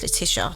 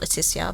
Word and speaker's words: Letitia: Well, it's Letitia, not Leticia, but call me.